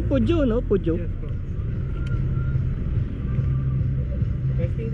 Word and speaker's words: Peugeot: ganda ng mga modelo niya no tama baang pronunciation pujo no pujo Yes po testing ka Boss sige